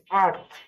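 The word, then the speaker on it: earth: আবার ই এ আর টি এস, আর্থ।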